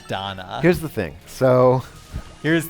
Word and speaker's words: Dana: and thank you for that, is that I mispronounced the name of the game, and it's Lacrimosa of Dana, not Dana.